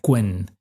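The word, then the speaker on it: Qwen: que se llama en en inglés se pronuncia quen, eh, que son muy avanzados, ¿no?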